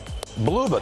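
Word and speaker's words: Blubaugh: Bluba, that's how you pronounce it.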